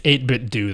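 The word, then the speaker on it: 8BitDo: know like officially it's 8bit do though but I think they're just covering it up it's actually supposed to be dough there's just no Hey, your controllers are so similar to Nintendo controllers.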